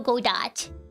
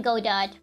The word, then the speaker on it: Godot: I like calling him Godot rather than Godo. Because when I think of Godo, I think of bread. So I would much rather call him Godot, even if that's not like technically how you say his name. I think Godot sounds more fun than Godo.